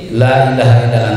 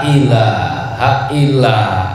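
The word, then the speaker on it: لا إله إلا: di sini tidak terjadi karena sering terjadi dalam pelafalan lafazlah seringki terkesan terdengarnya lilahailla Anta ini mungkin tadinya dari nada ya lailah Nah dari gitu tadinya awalnya jadi lailah ini merubah makna merubah lafaz merubah makna kalau enggak bisa sudah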